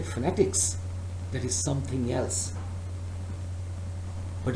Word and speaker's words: phonetics: say again all right it is possible that some of the students pronounce this word as fanatics fanatics but its correct pronunciation is phonetics some of you may